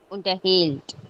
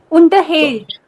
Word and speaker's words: unterhält: Wenn das nicht trennbar ist, liegt die Betonung auf der zweiten Silbe. Unterhält. Genau. Und wenn das trennbar ist, dann liegt die Betonung auf der ersten Silbe. Unterhält.